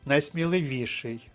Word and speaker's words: найсміливіший: наприклад найсміливіший До речі це слово має подвійний наголос найсміливіший і найсміливіший існує також складена форма